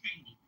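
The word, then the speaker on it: Cheyney: I believe that's what it was trying to pronounce. It's called Cheney.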